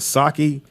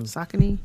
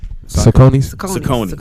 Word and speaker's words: Saucony: They're a very comfortable shoe, but was it Saki? Nick, what is it called? How you pronounce it? Is it Saki or something like that shoe? Saucony. Saucony.